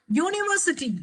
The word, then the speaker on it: University: University. University is pronounced as university.